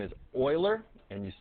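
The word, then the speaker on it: Euler: the man who discovered it his name is Oiler and you spell it like this and they just used the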